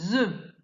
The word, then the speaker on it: œufs: C'est le cas pour un œuf au pluriel, je vais dire des œufs. F et S, on ne les entend pas.